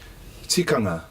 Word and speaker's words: Tikanga: So, Tikanga. Looking to, spell that word.